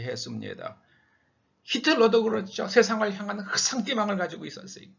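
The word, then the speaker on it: ressentiment: 영어로는 resentment, 불어로는 흑상띠망이라고 읽죠. 흑상띠망.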